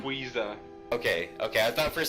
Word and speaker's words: Rayquaza: Rayquaza.